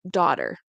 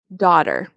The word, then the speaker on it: daughter: and eight-year-old daughter and you'll notice that um daughter I pronounce it with a d this is something you'll see very very like you'll hear it a lot in the United States North America so I'm pronouncing it like daughter daughter daughter daughter okay so I